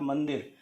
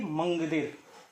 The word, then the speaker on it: मंदिर: आपका सही उच्चारण तब होगा जब आप इसके पंचमाक्षर वर्ण का प्रयोग करते हुए उच्चारण करने की कोशिश करेंगे, अर्थात मंदिर, ना कि मंगदिर।